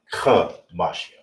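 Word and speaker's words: חמישים: It's not Mashim, it's Mashim. Gotta get that real pronunciation in Israel, right? Mashim. That's the correct way.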